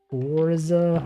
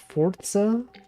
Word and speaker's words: Forza: got to go up Forza Horizon isn't it weird that it's it's pronounced fortza instead of Forza it's not even a te in there okay the two has